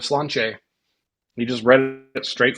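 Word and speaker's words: Sláinte: And then at the end, he said Slanty instead of Slanche.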